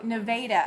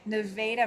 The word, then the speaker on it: Nevada: Um the first A is a long A, not pronounced like the state. Oh, okay. Um Oh, Nevada. Okay. Nevada, Missouri.